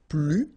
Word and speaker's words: plus: and in that case you don't pronounce the S, okay, plus.